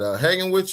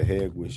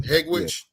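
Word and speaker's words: Hegewisch: Ain't a bunch of Mexicans and what is that? Hagenwich or something like that? Yeah, all over. Yeah, Hegwish. Yeah. Is that how you say it? Hegwish?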